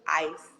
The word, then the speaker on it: Icee: That's Yeah, it is just ice. It's like ice. Just ice. I see E. It's just spelled with two E. Yeah. Ice. Ice, right? Yes.